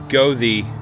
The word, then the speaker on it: Goethe: adventure and I'm really just passing through the GOI State Forest I've been here a couple times